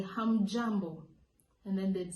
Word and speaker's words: hamjambo: But when there are many, you say hamjambo. Hamjambo. Remember, the pronunciation has to be strong, guys. You have to put in emphasis on the hum.